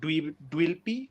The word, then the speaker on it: Dweplea: Some people they have the order of the words wrong because they just see the handle name and they say Dweplea. So that's what they pronounce it as.